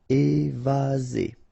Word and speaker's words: évasé: Remember, one S between two vowels. Z. Évasé.